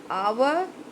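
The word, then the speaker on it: hour: आवर, आवर में H silent हो रहा है, ओ का आ रहा है साउंड, एन लगेगा.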